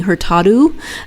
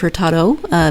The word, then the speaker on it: Hurtado: And in Portuguese, when there's an O on the end of the word, it's pronounced as an oo. And I kept catching myself, and I don't think I caught all of them, saying Hurtado instead of Hurtado.